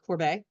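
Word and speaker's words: Courbet: the desperate Man by Gustav kuar uh or Corbet it's pronounced is actually a self-portrait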